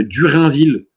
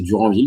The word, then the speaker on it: Duranville: Je savais pas que Durinville avait signé à Lyon. Je connaissais Duranville, mais je connaissais pas Durinville.